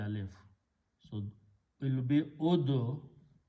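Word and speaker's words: ادعوا: You cannot pronounce two sukoons together. So you throw away one vaw there and you pronounce ud'u.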